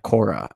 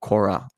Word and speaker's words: Korah: now we're learning about korah you know what rhymes with qura torah so torah is known